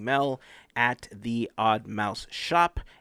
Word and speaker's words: Shoppe: Make sure that you're following Mel at the Odd Mouse Shop, SHOPPE, not pronounced shoppy.